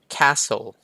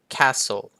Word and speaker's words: castle: ครับ ผม ก็ คือ ตัว T ไม่ ออก เสียง อย่าง เช่น Fashion Fashion ใช่ มย ครับ ผม ก็ คือ รัด เข็ม ขัด ตัว T หาย ไป Fashion ถัด ไป Castle Castle ก็ คือ ปราสาท Castle